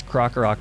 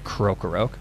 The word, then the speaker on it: Krokorok: then k-rool evolves into i never really knew that i was mispronouncing that until somebody commented on it in a video but i guess crocorc makes a lot more sense than krokorok whatever this generation came out